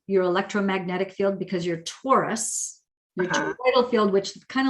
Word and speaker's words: torus: That toroidal field, also known as a torus, T-O-R-U-S, not to be confused with the astrological sign Taurus. I think it's funny that it's the same pronunciation.